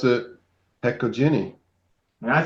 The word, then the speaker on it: Hecojeni: And I pronounce it Hecoini.